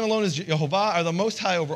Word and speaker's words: Yehovah: of this, in 1611, the J was interchangeable with the I. And it's actually spelled six times with a J, once with an I. So they would have read this as Yehovah back in 1611, which is pretty close.